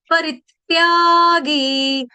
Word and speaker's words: परित्यागी: परित्यागी, परित्यागी, परित्यागी, आघात आना चाहिए, देखो। आ, परित परित्यागी, परित्यागी, परित्यागी, त्या दीर्घ, गी दीर्घ, री ह्रस्व, री के ऊपर आघात, आधे त का, हलंत त का, परित्यागी, परित्यागी।